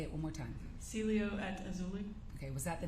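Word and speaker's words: Cielo Azul: the Celia how do you say it again Celio auli say it one more time Celio at auli okay was that the name of the apartment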